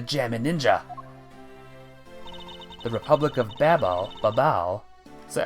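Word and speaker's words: Babahl: That's about right for pronunciation. Babal, gotcha. I always thought it was like Babel or something.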